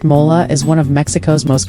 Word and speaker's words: mole: Mole, pronounced mola, is one of Mexico's most complex and celebrated sauces.